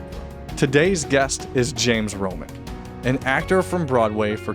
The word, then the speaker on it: Romick: Romick, right? Romick, yeah.